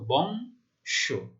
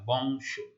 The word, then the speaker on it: বংশ: রয়েছে, তাহলে কি হবে, অন্ত অ এর উচ্চারণ ও এর মতো, বংশ।